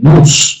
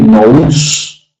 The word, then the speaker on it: nous: La causa de las distintas mezclas de la semilla la pone Anaxágoras en el nous, que se escribe nous.